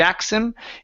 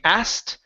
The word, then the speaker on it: asked: okay you can uh I would recommend either saying asked she asked him or I would say asked asked him okay which is a little more challenging okay asked him